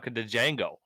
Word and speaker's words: Django: - Django thing he could spell it yeah that guy what I got you the D is silent oh yeah I didn't